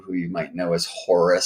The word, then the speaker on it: Horus: you might know as Horus. Some pronounce that hours, by the way.